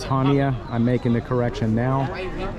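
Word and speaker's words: Chania: Now the other day I kept pronouncing it Chaia because of the way it was spelled ch but that's silent. So it's Hania.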